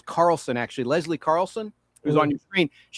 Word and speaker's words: Carlson: I said Leslie Charlson. The H is silent. Her name is Carlson, actually.